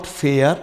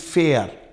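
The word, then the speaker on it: fair: इट इज़ not religious, it's religious, and इट इज़ नॉट फेयर, इट इज़ फेयर अर।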